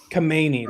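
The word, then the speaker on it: Khamenei: Kmeni, how do you pronounce his name? Kamani. Kamani. That's it. Pancake.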